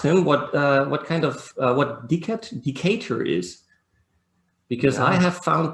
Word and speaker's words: Decatur: That was a sweet girl of Decatur, it's called? No, it's not. If you look at the second line, it must rhyme. Oh, yes, yeah. Decatur.